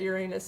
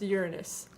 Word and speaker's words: Uranus: science class we all used to giggle that Uranus and our teacher in a huff said that it's actually pronounced Uranus yeah I don't think that that makes it